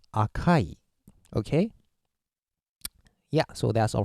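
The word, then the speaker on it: 赤い: stop it okay uh Chinese style is SEI or shaku shaku is very rare usage and uh in Japanese it's AKA AKA means red and for adjective we use Akai okay yeah so that's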